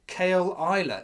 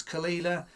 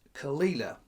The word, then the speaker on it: Caol Ila: so Kila first of all you might notice it's spelled kale Isa is how I thought it was pronounced does tell you on the box it's khila and it's all over the Internet it's pronounced khila 12 years Isa single malt scotch whiskey never